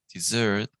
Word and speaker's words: dessert: So desert has the accent here, so desert. A dessert has the accent at the end.